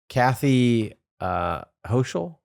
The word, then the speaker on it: Kathy Hochul: And then just today, so this is after the California headline, New York Governor Kathy Hochul? I think is how you pronounce it.